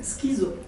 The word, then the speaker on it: Skizos: In French, Skizos is pronounced schizo. This subtle difference in pronunciation led the Association of